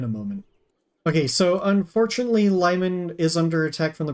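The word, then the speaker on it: Limon: There's a city in Colorado where I'm from called Lyman, but it's spelled L-I-M-O-N.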